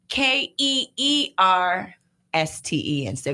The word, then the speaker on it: Kirsten: because that matters, revealed her name is pronounced Keersten.